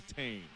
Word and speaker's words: Thain: Roderick Thain. And we asked him about the pronunciation of his name, and he said definitely Thain. Don't pronounce the H, anybody.